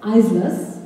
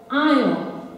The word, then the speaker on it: Isle: Well, the student says, Islas. And then the teacher recasts the pronunciation, says, Isle. That's right, the Isles here.